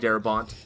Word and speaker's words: Darabont: Because it's Frank fucking It's Darabont.